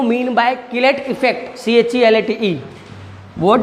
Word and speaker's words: chelate: पढ़ने में आता है तो चिलेट पढ़ते हैं अपन, या चिलेटिंग इफेक्ट भी पढ़ते हैं, तो हमें तो बोल के सुनाना नहीं है एग्जाम में, हमें लिखना है, तो प्रॉपर प्रोनाउंसिएशन तो इसका किलेट है।